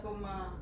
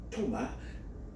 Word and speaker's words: Thomas: Alors, si tu veux parler en français, tu pourrais dire Thomas. T-H-O-M-A-S. And if you prefer English, you say Thomas. T-H-O-M-A-S. Prononcer S là.